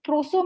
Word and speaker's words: proso: The other one is proso millet, the one that I try to rhyme with sarso.